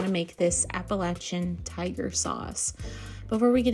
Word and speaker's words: Appalachian: just want to point out that appalachin is pronounced appalachin not Appalachian appalachin that was kind of close not Appalachian